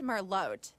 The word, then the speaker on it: Merlot: It's pronounced Merlot. Learn French, Tabby.